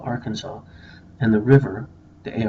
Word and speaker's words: Arkansas: language but think about how how come you pronounce Kansas Kansas and Arkansas Arkansas and the river the a r k a